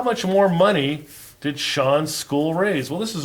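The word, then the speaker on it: Sean: start our concept development this name is pronounced Shawn it looks like C on but it's actually Shawn and Irish name Shawn's school raised and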